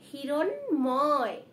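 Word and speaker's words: হিরণ্ময়: দেখো এখানে কিন্তু দন্ত ন রয়েছে, তাহলে উচ্চারণটা কি হবে? হিরণময়, হিরণময়।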